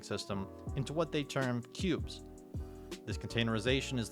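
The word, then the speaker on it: Qubes: One of the best privacy-focused operating systems is the Cube's OS, spelled with a Q.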